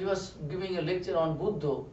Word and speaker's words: Buddha: Buddha, it is not bud. This bud of the flower, bud.